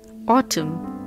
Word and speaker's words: autumn: g is silent Autumn the last alphabet is silent science muscle sign g